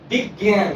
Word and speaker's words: বিজ্ঞান: বিজ্ঞান বানান, দীর্ঘ জয়ের কোনো উচ্চারণ নেই, বর্গীয় জয়ের কোনো উচ্চারণ নেই। বিজ্ঞান, এটার উচ্চারণ হয় গয়ের